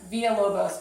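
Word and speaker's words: Villa-Lobos: first thing via whoa Bose is not hard Villalobos but his first name is th er it's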